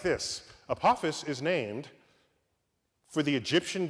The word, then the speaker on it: Apophis: Apophis I get to say it like this Apophis is named for the Egyptian god of death